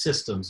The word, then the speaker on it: CSDMS: modeling system or csdms which is sometimes pronounced systems with a soft c first a little bit